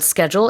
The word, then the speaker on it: schedule: There's a different pronunciation for the word schedule in the UK and I hardly use it anymore, but it's schedule.